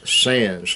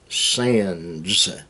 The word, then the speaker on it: Sands: Evidently, my pronunciation doesn't meet their requirements, but the algorithm spells it S-A-N-S, sans, like in because of or related to, but it's Sands, S-A-N-D-S.